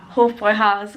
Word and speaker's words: Hofbräuhaus: Hofbräuhaus, got it right. I keep pronouncing it as if the umlaut's on the O rather than the A, but Hofbräuhaus.